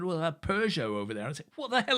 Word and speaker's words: Peugeot: a p yes yes just explain how you pronounce it so we're talking peugeot yeah so in ireland peugeot i said peugeot first time i came to england right what